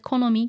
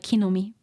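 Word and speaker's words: 木の実: Ki as I said Konomi can be pronounced as kinomi both are fine too standard is more like kinomi butak intentionally intentionally wrote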